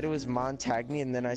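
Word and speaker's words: Montagne: It's not even Mon-tag. It's Mon-tag-KNEE. I said, oh Lord Jesus. Are you fucking? Mon-tag. That's how it's spelled, isn't it? No. It's Montage. Oh. So what's the N-E? Silent? It's French.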